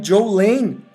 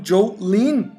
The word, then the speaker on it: Jolene: A família pronunciava seu nome Joe Lane, embora Joyce lembrasse que alguns amigos pronunciavam Joe Lynn.